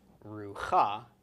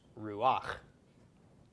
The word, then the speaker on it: ruach: So this is not pronounced rucha, but instead pronounced ruach.